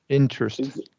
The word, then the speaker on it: interest: So first E, So interest, interest.